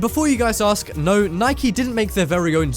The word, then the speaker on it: Nike: you guys ask no Nike didn't make their very own zombie proof house this is actually a missile based which is pronounced Nik not Nike but anyways this is